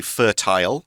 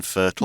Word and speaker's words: fertile: So a quick note, you will hear some people in the UK say fertile rather than fertile. That's true. So both pronunciations are absolutely okay. They mean the same thing. So something's fertile, something's fertile. It's both fine.